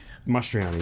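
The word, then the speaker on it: Mastroianni: uh of what is it how do you pronounce his name astroni Marcel mistrani uh mastroni masteriani yes thank you but um a special day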